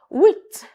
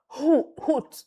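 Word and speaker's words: huit: Wheat. Wheat. Not hoot. No. The ash. Remember our alphabet. Yes. Don't worry. Very soon I'll take us back again to alphabet. Yes. Ash. The ash sound is silent.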